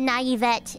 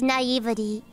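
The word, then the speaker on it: naivety: oh whoops I said I said naivet it's naivity I don't know I didn't know was spelled like that scary scary scary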